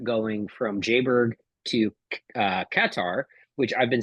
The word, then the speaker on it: Qatar: time like katar Airlines everyone usually says Kar or Qatar right yep so uh katar Airline says katar like that and I'm like okay well I guess you guys probably know how to pronounce it um so I flew